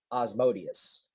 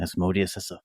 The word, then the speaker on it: Asmodeus: And he gets to the part of his true identity, that he is originally Osmodeus. Yeah, see, asshole. It's all A's.